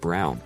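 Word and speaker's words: Braun: I told her why Eva Brun pronounced Brown was the wife of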